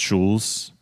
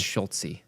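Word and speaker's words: Schulze: Horst Schulz, I believe is how you pronounce the name. It could be wrong. It's Schultze, actually.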